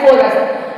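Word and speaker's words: chorus: बाद दो वल्स है लेकिन एक जगह इसका उच्चारण च है और दूसरी जगह इसका उच्चारण क है सी एच ए आई R chair C एच ओ आर यू एस कोरस तो इंग्लिश में मैंने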